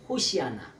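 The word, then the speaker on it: הוֹשִׁיעָה נָּא: 재발인이 나를 구원하소서 이런데 호시아나 원래 발음으로 호시아나 호시아나는게 뭐냐 제발 나를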